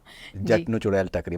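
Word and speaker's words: Jatt Nuu Chudail Takri: जटनू चुड़ैल टकरी, मैंने सही प्रोनाउंस किया ना?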